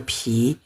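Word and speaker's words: 皮: Kalau ini bacanya po, polang tepo ya, santian sui ke pi. Kalau tanpa air bacanya pi, artinya kulit.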